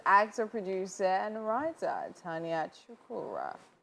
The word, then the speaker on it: Chukwurah: Oh, Finally, on the couch with us is actor, producer, and writer Tonia Chukwurah.